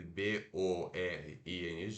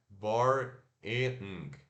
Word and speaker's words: boring: Se escreve B-O-R-I-N-G, como se fosse boring, né? Mas se pronuncia, ó, apóstrofo indicando que a primeira sílaba é a sílaba tônica.